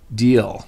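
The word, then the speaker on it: Diehl: So my last name is D-A-H-L. Pronounced Dahl is Dahl, so Deal.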